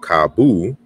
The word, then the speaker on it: cabo: and then we have kabu right so we have the there's a correspondence here and the final o is pronounced ooh in portuguese and then we have